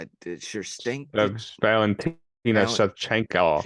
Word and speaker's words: Shevchenko: Whoever ended up winning, I believe she beat sure stink did Valentina Val- Shevchenko. It's Shevchenko. like That's how you say it.